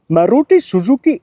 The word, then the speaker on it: Maruti Suzuki: It's true that the company which manufactured this car is this, and it's pronounced Maruti Suzuki India Limited.